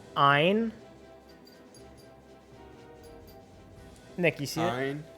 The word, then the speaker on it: Ein: Wait, you're telling me it's pronounced Ein? Nick, you see it? Ein, like Einstein?